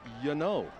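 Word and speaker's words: Gnanou: I learned from Jacob Baker's dad, who's an assistant coach for Bishop Guertin, that the correct pronunciation for Adam, G-N-A-N-O-U, is Yano.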